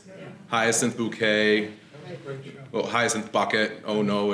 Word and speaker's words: Bucket: Well, Hyacinth Bucket. Oh no, it's pronounced Bouquet.